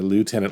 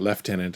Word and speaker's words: lieutenant: I would not bat an eye either lieutenant left tenant. I've heard both probably I would default to lieutenant though be my first stop on the pronunciation there.